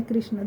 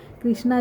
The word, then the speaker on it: कृष्ण: नाम जब लेना है तो कृष्ण कहिए कृष्ण आ की मात्रा मत लगाइए अगर आप कृष्णा कहेंगे तो देखिए कृष्णा हम बोलते हैं प्रोनाउंसिएशन में आता है कृष्णा पर उनका एकदम प्रॉपर जो नाम है वो कृष्ण है कृष्ण अ की मात्रा